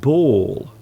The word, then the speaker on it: ball: Could you please tell me the pronunciation of bull and ball? Hello, Anna. There is a bull. Bull. My friend is kicking a ball. So you can hear the difference in the pronunciation.